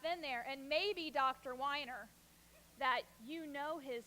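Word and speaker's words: Weiner: over to me and my doctor's name is dr. Wyner but it's spelled WEEI and ER and I'm a mom and where I'm from that's pronounced wiener so she then goes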